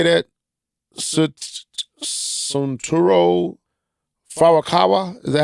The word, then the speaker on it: Furukawa: Suntaro Furukawa, is that how you say that? Furukawa. Furukawa.